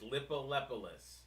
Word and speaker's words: Lippolis: name uh that's correct it is lippolis yep okay good yeah just make sure we're on the P it's a p it's all P's lippolis I thought you were just